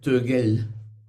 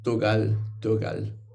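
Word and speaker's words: Tögal: Pues en el centro del Tíbet dirían Tekchö y dirían Togel. En cambio, en Kham, la región de donde es Chogyal Namkhel, no se pronuncia tan es casi como Togal, pero no llega a ser Togal, es también Togel, pero entre Togel y Togal.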